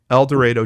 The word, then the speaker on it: El Dorado: i always mispronounce it what's the arkansas pronunciation el dorado thank you el dorado jane doe and in